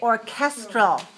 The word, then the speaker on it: orchestra: add L to it well then we say orchestral right orchestral change it to three two and